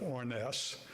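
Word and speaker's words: Harness: Now, I understand from a fellow by the name of Orness, and if you look on the tags, name tags, you'll see an Orness, H-A-R-N-E-S-S. The H is silent, and that lady is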